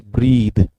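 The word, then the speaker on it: breathe: This is ब्रेथ, हाउ डू we pronounce it? इट is pronounced as ब्रेथ, this is noun. और इसको अगर आप सिर्फ इतना ही चेंज करेंगे तो इट बिकम्स ब्रीद। क्या बन जाता है ये?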